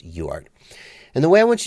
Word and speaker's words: UART: referring to a UART UART or just pronounced yard and the way I